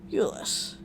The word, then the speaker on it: Ulysses: Garrett says the name in English style, pronouncing the final S. I correct him. Ulysses.